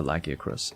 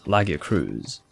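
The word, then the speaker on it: Lagiacrus: away as far as the correct pronunciation for lackier chris it's laggier cruise like your cruise control very funny lucky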